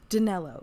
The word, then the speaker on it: Danilo: now we meet brenna odell who is uh danilo is that how he pronounced his name i've already forgotten i think it was daniello danello yes so we meet brenna who's his daughter